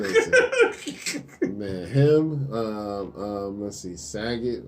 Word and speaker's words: Sagat: Let's see, Saget or Sagat. How you say it? Sagat.